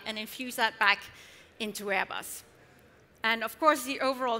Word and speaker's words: Airbus: was not known, and I kept saying Airbus, and everybody thought that I worked for ABBA, the Swedish rock band that you probably all know. So I had to pronounce it Airbus, like the Americans do.